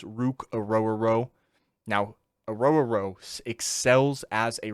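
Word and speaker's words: Ruke Orhorhoro: Definitely pronounced it wrong, but it's Rukarororo.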